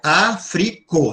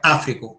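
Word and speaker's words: Afriko: Africo, este continente, olha, Africo, não é Áfrico, Africo, tá?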